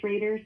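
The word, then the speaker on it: Schroeder: back to me because a lot of people screw up uh the spelling of my last name because it's said different than it's spelled. Of course. So, your last name is Shrader spelled S C H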